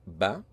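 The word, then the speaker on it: بَ: If we put all these together on the first line, the short vowel fatha, which is a dash or a straight line on top of the letter, will make the pronunciation ba.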